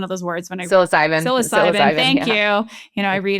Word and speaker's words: psilocybin: I mean, whether or not I end up trying, psilocybin, am I saying it right? It's always one of those words when I Psilocybin.